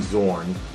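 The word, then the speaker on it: Xorn: Also, there was a point in in the Graham Morrison run of the X-Men where he pretended to be Zorn, spelled with an X, and I think he was planning on blowing up the school or blowing up the world.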